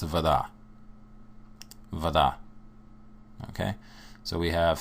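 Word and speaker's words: вода: In Russian, it's voda. Voda. Okay? So we have three letters, A, B, V. And now you have a word, voda. Voda. Notice that the syllable stress for voda is on the end.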